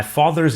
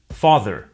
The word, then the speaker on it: father: Father. Father. Car. Car. Notice that the final R sound is not pronounced in British English. Father ends in a simple schwa vowel, like father.